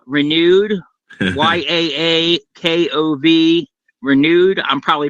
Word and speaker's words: Yakov: Uh, his handle is Ya Yakova Renewed. Y A K O V Renewed. I'm probably pronouncing that wrong.